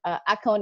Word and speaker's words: Axone: And I have to tell you, Axone, am I saying it right? Yeah, perfect.